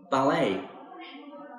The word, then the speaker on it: ballet: me skiing not skying ballet notice the t in ballet is a silent letter fencing this is like